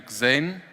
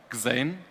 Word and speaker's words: Xane: So I'm here to present you Xane. That's how it's pronounced, Xane.